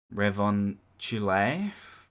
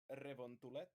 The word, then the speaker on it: Revontulet: Ice Fairy, Revon Chule. Close. That's Finnish. Close. How do you say it then, Haamu? Revontulet. Revon Tulette.